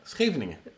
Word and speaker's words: Scheveningen: Again, tell me how to pronounce the beach city. What? Scheveningen. Yeah, genau. Anyways, that's nice. Scheveningen.